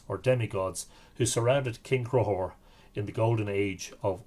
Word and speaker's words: Conchobar: King, you would say that's Conchobar. Pronounced Crohor.